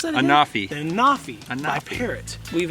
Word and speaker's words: Anafi: So we just finished flying the Autel Evo and the, how do you pronounce that again? Anafi.